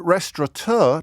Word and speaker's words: restaurateur: Restaurant with an N, restaurateur, no N.